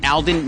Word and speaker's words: Aldine: this location where we're at today the East Alden Management District did I say it right yes